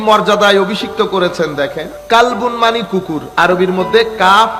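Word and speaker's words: قلب: কালবুন মানি কুকুর, আরবির মধ্যে কাফ লাম বা কালব, আর একটা হচ্ছে কলব, এটা হচ্ছে কফ দিয়ে কলব। তো আপনি কলবুনকে কালবুন বললে কি হয়ে যাবে? কুকুর হয়ে যাবে।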